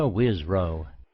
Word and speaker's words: Wisrough: Wisrow.